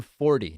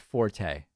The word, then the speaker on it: Forte: I guess she pronounces her name Forte, not Forte.